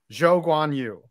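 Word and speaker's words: Zhou Guanyu: yeah the halo saved uh joe guanyu's life joe guanyu i said it right and uh yeah he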